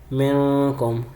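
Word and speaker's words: منكم: من کم کو میں نے ایسے کر کے کھینچا تھا جبکہ کھینچنا نہیں چاہیے تھا، بلکہ اصل تلفظ اس کا کیا ہے؟ من کم، یعنی غنہ کرنا ہے، کھینچنا نہیں ہے. ناک میں آواز بھی لے کے جانی ہے.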